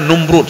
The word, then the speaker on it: Numrud: satu lagi numrud ya kalau kita membacanya kan Namrud P Namrud Sebenarnya numrud ya kaum muslimin sidang jemaah